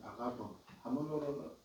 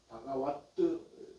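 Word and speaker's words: भगवत्: 그런데 이것은 이제 우리 번역하면 세존이라고 번역하는 세존이라 할 때 세존은 바가붐 한문으로는 바가붐 이렇게 음사가 되어 있는데 발음은 바가와트 이렇게 되는데 바가와토 그다음에 아라하토라는 말은 그 한문으로는 응공이라고 번역을 합니다.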